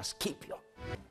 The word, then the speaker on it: Scipio: Però in questo caso specifico, sì, i romani la C la pronunciavano dura e quindi il loro generale si chiamava Scipio.